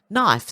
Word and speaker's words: knife: I've mispronounced English lesson knife the K is silent tsunami the t is